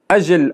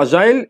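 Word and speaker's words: agile: برضو ان هي اجل، والكلمة بتنطق اجل او اجايل الاثنين نطقهم صح، هنلاقي الاثنين موجودين يعني ده ممكن نطق امريكان اجل والبريتش اجايل، وانطقها ازاي على حسب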